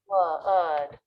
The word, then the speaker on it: would: Note that the L is silent in these words, and they all have the vowel as in book, where the lips flare a little bit and there's It's coming.